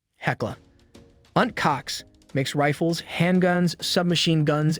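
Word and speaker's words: Heckler & Koch: HK or Asian K German pronunciation heckla UNT Cox makes rifles handguns submachine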